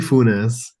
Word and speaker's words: Fuesz: It's FZ. Fes.